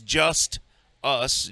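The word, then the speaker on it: Justus: to justice conor justice name spelled like it sounds just us j-u-s-t-u-s i bet connor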